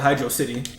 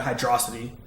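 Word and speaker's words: Hydrocity: wanted to call it Hydro City. You know what I'm saying? like I don't know cuz I think the uh one of the translations is pronounces basically like hydro city not hydroity but yeah I don't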